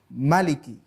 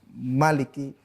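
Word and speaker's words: مالك: yang itu membacanya pendek Maliki tidak Maliki Hai namanya varian bukan perbedaan istilahnya adalah multiple reading perbedaan dalam pengertian varian bacaan kita boleh membaca dengan Malik panjang atau Maliki dengan bacaan pendek Hai tapi intinya bahwa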